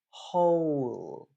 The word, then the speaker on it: whole: single syllable for example in whole it's not H it's o o o o okay ho right so that o uh that's a diff thong and you do need